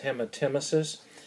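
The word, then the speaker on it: hematemesis: growing up if there's blood in it is pronounced hemet emesis and when Tim Isis is going to be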